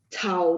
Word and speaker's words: 草: Cao juga C, jadi bacanya ada angin ya.